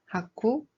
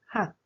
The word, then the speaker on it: 학: It's not 하쿠, it's just 학, like you cut the end quickly.